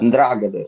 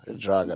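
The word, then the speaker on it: 'Ndrangheta: Ndragada, Ndragada. Androgeda. Androgeda. No, just say the N, Ndragada. Put Ndragada. Mm, Yeah, like Androgeda. N, like you want to say N, Ndragada. Androgeda.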